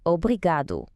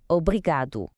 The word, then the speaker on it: obrigado: So, for all the men out there, your word is obrigado. The emphasis is on that second to last syllable, obrigado.